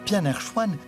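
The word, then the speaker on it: 片儿川: Hangzhou dans le Jiangnan à cause de la rotacisation distincte dans le dialecte de Hangzhou. Le plat de nouilles aux légumes en conserve, qui se prononce Pianerchuan, est un bon exemple.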